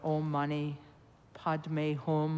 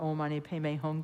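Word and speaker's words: Om mani padme hum: reciting the compassion Mantra oh money pod home or omy pong depending on whether you use Sanskrit pron pronunciation or Tibetan my my teacher was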